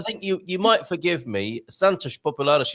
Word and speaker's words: Santos Populares: Santos Populares is how it's pronounced, right? Santos Populares. Santos Populares. Yeah. And I'm hearing that as an A. It is, of course, an O, and that is our